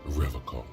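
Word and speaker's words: Revachol: He pronounces Revaccom with a hard K.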